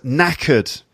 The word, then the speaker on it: knackered: this is the word knackered knackered and it's spelt K n ACK ye AR D to go silent K knackered and it's an AK